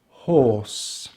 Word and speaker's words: horse: a word like this: horse horse. So we have for the h or s the e is silent or s horse horse.